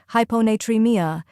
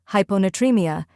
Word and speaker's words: hyponatremia: hon first we have hypo where High sounds like high and PO is like in polar next n tree where